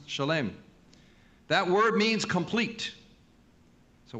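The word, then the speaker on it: שלם: In Hebrew, the shoresh, the root of the shalom, is shin lamed mem sofit, pronounced shalem.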